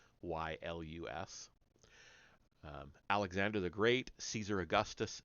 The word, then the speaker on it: Aeschylus: I don't know how to pronounce that one. Sorry, it's Aeschylus.